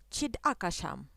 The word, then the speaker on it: Chidakasham: It's interesting that a more precise pronunciation, which the Indians keep, sounds as Chidakasham.